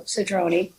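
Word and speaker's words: Cedrone: Just so the only thing is I believe um Nan Pastor Julie it's Sedroni, right? Sedroni. C E D R O N E with it. Yeah. So Sedroni, what page is that?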